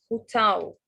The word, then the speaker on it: hotel: Take care of the pronunciation of hotel. Hotel. The stress is on the second syllable. الstress بيكون على المقطع الثاني and not the first one.